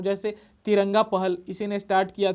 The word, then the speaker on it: Knesset: तो इसके संसद का नाम है नेसेट। क्या है, देखिए स्पेलिंग, KNESSET। तो ये नेसेट जो है यहाँ के संसद का नाम है, के साइलेंट रहता है, ओके।